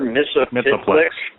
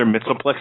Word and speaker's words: Mxyzptlk: God, I never pronounced his name right. Mr. Mxyzptlk. Mxyzptlk.